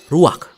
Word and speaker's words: ruach: Kata dalam bahasa Ibraninya adalah ruach. Ruak? Ya, benar. Tenggorokan kita harus benar-benar bersih di akhir pengucapan.